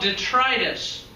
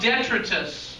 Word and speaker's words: detritus: But when the marsh grass dies, it decomposes and forms this stuff called detritus. Have you ever heard that word? Also called detritus. I've heard There's two ways to pronounce it.